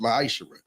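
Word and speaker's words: מעשר: Means 10th in Hebrew, and it's pronounced ma'ashera.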